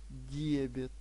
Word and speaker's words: дебет: средства получилось у нас дебет Итак Запишите поскольку у нас счёт активный то дебит это пришло а кредит это ушло Запишите новое понятие в тетрадку и правильно ставьте ударение Дебет и кредит чтобы вы Правильно говорили